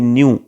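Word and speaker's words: ν: ये जो सिंबल है उसे हम न्यू कहते हैं, प्रोनाउंस हम करेंगे न्यू, और उससे हम फ्रीक्वेंसी दिखाएंगे.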